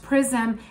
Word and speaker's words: XRISM: So according to a new report, the telescope, I've mentioned that briefly in my last video, it's called XRISM, it's pronounced PRISM, has captured the first ever X-ray image of 3I Atlas.